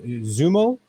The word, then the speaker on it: Xumo: Next one up is how do you pronounce it? Zumo, XUMO, Zumo. Zumo, yeah.